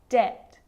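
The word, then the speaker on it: debt: of these examples subtle depth and doubt so seeing all of those examples my lips aren't closing and coming together to form the B sound I'm just pronouncing the T subtle depth and doubt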